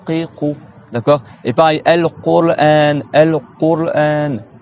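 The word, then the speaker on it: القرآن: Et pareil, al-Qur'an, al-Qur'an. Dites al-Qur'an. Qur, t'as le ra après.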